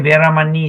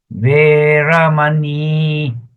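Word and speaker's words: veramaṇī: In the Pali context, you pronounce as Veramani. See, the last I is an I with a dot. You don't say Veramani, Samma, Veramani. No. Veramani. You must drag your I a little bit.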